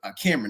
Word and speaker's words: Kameron: Cameron, that's how you pronounce his name.